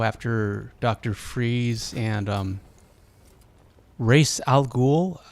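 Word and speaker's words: Ra's al Ghul: I always thought he was Razal Ghoul, but he's race in the game. I'm pretty sure Liam Niss pronounced it Ross. My whole life he's been Ross Al Ghoul and now he's race alulan from this distance.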